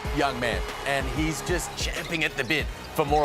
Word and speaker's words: champing: most impressed with there he said champing at the bit not chomping at the bit you